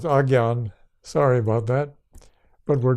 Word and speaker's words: Ajna: The forehead center, called the third eye quite often, or AJNA, which we pronounce ajna, but is pronounced agyan.